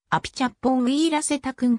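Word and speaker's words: アピチャッポン・ウィーラセタクン: 大勢の中で本人の発音を聞いてアピチャッポンウィーラセタクンという日本語表記が当人の発音に最も近いと合意した事実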